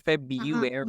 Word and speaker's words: February: February. Yes. Totally skip the R and then February, that is the second option. We use both, like with the raw and without the raw sound, but that syllable, right.